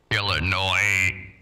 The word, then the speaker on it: Illinois: right he stand up Illinois with no s at the bottom at least he said